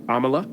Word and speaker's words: Amala: you're your name I'm going to try to pronounce it uh Amala Amala perfect Amala yeah okay yeah that's